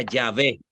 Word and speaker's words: Yahvé: de Nácar Colunga, ellos a esas consonantes le añadieron las otras vocales y se pronuncia Yahvé.